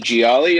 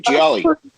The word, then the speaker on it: Gioeli: i'm here with johnny gialli of hardline did i pronounce the last name right jolly pretty good geo elite g-o-l bro it's like a pasta dish it's like if you